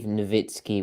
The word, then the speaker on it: Nowitzki: Nowitzki over there um do you say Nowitzki or Nowitzki I I believe novitsky would be the proper German pronunciation right but Americans love saying Nowitzki anyway yes um funny so